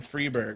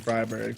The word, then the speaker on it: Friberg: that's another thing yeah cuz it's not only the I being like two sounding like two e but the G sounding like a not a j but like a y sound like a yes sound or something strange strange for English speakers early famam coming out